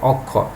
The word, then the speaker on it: অক্ষ: যেমন দেখো শিক্ষার্থী আমি তোমাদের দেখেছি যেমন অক্ষ, তাহলে এই শুরুতে অ আছে, কেমন? তো অ এর উচ্চারণটা ওর মতো হয়ে গেল।